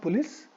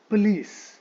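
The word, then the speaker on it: police: तो इंग्लिश में इस वर्ड का प्रोनाउंसिएशन थोड़ा अलग होता है. इट इज नॉट पुलिस बट इट इज पुलिस.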